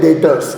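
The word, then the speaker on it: debtors: B silent रहेगा, याद रखना, उसको हम लोग बोलते हैं डेटर्स, क्लियर?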